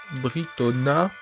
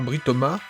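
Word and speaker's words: Britomart: Britoma. Britona. Non, Britoma.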